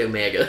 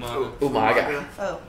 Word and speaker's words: Umaga: You said Omega. You didn't say it right. Omega. What's his name? Umaga.